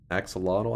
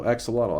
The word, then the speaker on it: axolotl: one uh uh hold up axolotl oh Axolotl I was saying it right Axolotl axolotl EXO Lotto